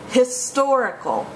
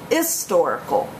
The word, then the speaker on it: historical: the indefinite article a if you pronounce it with a silent h use an an um the two